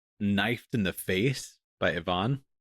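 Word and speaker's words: Yvonne: It's spelled Y V O N E but that's typically pronounced Ivon. Ivon.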